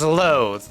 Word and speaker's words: loath: So there's two words that are loathe, both pronounced the same way. It's just one has an E on the end and one doesn't.